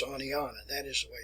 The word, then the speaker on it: Oneonta: the northern people that were visiting that area pronounced it as onetta uh it's Onana that is the way it's pronounce and from